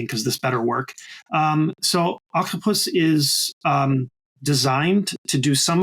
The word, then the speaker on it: Okhtapus: launching a platform called Octopus, OKHTAPUS. Can you tell us a little bit about Octopus and what your plans are with it? From new. I would pronounce that octopus. Exactly, because it's actually Farsi.